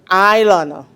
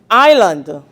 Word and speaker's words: island: Let us look at the word island. Island.